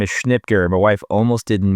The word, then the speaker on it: Schnitger: My last name is Schnipker and my wife almost didn't marry me because of it.